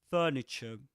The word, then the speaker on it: furniture: Can you notice the the two R sounds? Furniture. But in British English, furniture.